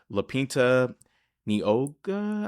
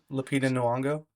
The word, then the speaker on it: Lupita Nyong'o: I think my favorite aspect was the voice acting and just how Roz, um Lapinta Nioga, I always say her name wrong. Lupita Nyong'o.